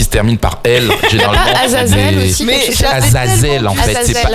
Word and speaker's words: Azazel: Tous les noms qui se terminent par elle généralement Azazel en fait, c'est pas Azraël.